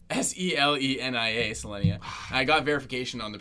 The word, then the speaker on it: Selenia: Selenia, Selenia. I got verification on the pronunciation of both these names, by the way.